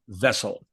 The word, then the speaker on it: Wessel: It's pronounced with a V, as the Germans pronounce it.